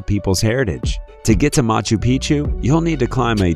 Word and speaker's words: Machu Picchu: Machu Picchu Peru when a place rhymes with picture you can almost bet